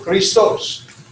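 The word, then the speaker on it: Χριστός: The ST, the sigma tau, can be said together, stos. So they're not separated. The X, or the key and the rho, the XR, Kri, one syllable, and stos. So Christos.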